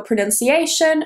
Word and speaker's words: pronunciation: Now, a lot of people say pronunciation, even natives. So if you say pronunciation, you're not alone. Natives do it as well. Pronunciate. So the stress is there.